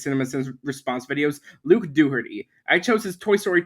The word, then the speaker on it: Dougherty: Actually, his name is pronounced Luke Dooherty.